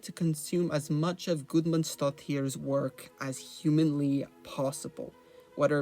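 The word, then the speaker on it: Guðmundsdóttir: Björk aside from me finally learning how to pronounce her last name. Gudmundsdóttir.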